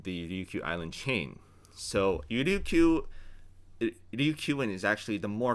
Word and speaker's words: Ryukyu: So Ryukyuan is actually the more correct term. Or in the Ryukyu languages, you say Liuchuan. Ryukyu is actually a Japanese pronunciation, so it's actually not the original pronunciation.